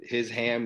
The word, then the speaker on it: Hisham: my name is ham so his ham is Hisham that's a easy way